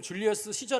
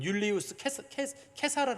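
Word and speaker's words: Iulius Caesar: 저라고 있잖아요 줄리 시저 우리는 지금 줄리어스 시저 아고 발음을 하고 공식 명칭은 율리우스 케사르 발음합니다 공식 명칭 은 라틴어로는 케사르 아고 발음하는데 그 율리우스 케사르 아고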